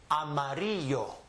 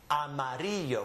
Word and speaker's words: amarillo: So Amarilla is really amarillo. Amarillo, which is the color yellow. So everywhere you see the double L, give it a Y sound.